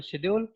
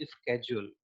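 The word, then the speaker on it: schedule: And hectic international शेड्यूल, शेड्यूल को आप अगर अमेरिकन उसमें प्रोनाउंसिएशन देखेंगे तो वो होता है स्केड्यूल, है ना। तो अगर कोई स्केड्यूल कहता है तो उस पर आप हैरान मत होइएगा।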